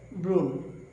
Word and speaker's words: ব্রণ: এরপরে আমরা দেখব নিয়ম 5, শব্দের শুরুতে যদি অধ্বনি থাকে এবং এরপরে যদি রফলা থাকে আমরা অধ্বনির উচ্চারণ ওকারান্ত করব। যেমন ব্রণ উচ্চারণ হবে ব্রণ।